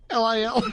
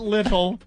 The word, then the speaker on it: Lil: L-I-L? L-I-L. L-I-L. Not little. It's Lil. Oh, they're coming in like crazy.